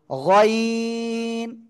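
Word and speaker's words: غين: গেল গাইন কি হলো গাইন গলার শেষ ভাগ থেকে উচ্চারণ হয় এই অক্ষরটা হ্যাঁ গাইন সবাই নুক্তা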